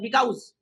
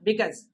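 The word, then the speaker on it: because: कितने लोग कहते हैं, कल रात में मेरे ऑनलाइन क्लास में एक लड़का कह रहा था बिकाउज, मैंने तुरंत रोका, उसको बोला बिकॉज।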